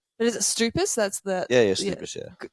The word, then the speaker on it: Stoupas: But is it Stoupas? That's the Yeah, Stoupas, yeah. the Stoupas Greek or pronunciation. Stoupas. Stoupas. Yeah, it depends how Greek you are, where you're born. If you're born there, then Stoupas. Yeah.